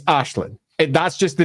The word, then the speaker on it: Aislinn: Ashlin is a slightly less well-known name. So, it would be unfair to call everyone who calls it Easlyn an idiot because it's just not well known. But it would be fair to say do take a check about how names are pronounced first. So, Ashlin is probably the way it should be pronounced.